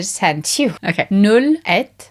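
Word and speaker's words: einn: Et. Even though it's spelled ein.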